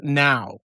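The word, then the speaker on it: Nao: N A Oo, but pronounced out loud as now.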